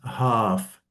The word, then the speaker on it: half: Yeah, it's pronounced half.